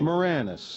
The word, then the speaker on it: Moranis: How do you say your last name? Moranis. It's not Moranis? No. Did anybody ever say Moranis?